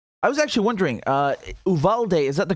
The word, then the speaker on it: Uvalde: them the right way that it would be pronounced um in the u.s it's uvalde is that correct all right great thank you